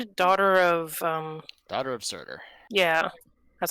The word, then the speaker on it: Surtur: Wasn't it daughter of, Daughter of Surtur. yeah. I was like, Serta, but that's not right.